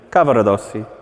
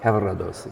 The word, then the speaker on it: Cavaradossi: How do you do it? Cavaradossi. Cavaradossi. You just flip the R rather than a roll.